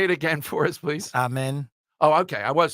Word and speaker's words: Amen: differently there say it again for us please amen oh okay I was saying it right there